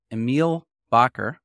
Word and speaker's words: Emil Bakker: I'm here with Emiel Bakker. Hope I pronounced your name correctly.